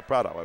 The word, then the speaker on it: Prado: gets the rebound but Prado picks up the foul Prada yeah Prado I said it right the first time let me push my